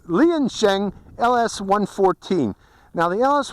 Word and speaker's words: Liansheng: I just got recently this is the ling I'm sorry you pronounce lien Sheng LS 114 now the